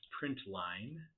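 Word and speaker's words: println: system.out do print Ln which I pronounce print Line Print Ln that is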